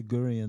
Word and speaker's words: Gurian: Yeah, I could never say Gurian. The hard G was killing me.